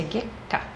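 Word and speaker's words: 月下: Mas a ênfase da palavra está aqui, ó, no ge. Essa palavra se pronuncia geka.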